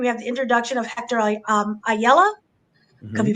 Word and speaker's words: Ayala: So kind of just jumping into this, White Tiger, you have the introduction of Hector Ayala. Could Mm-hmm. be pronouncing that wrong, Nope, but it's good.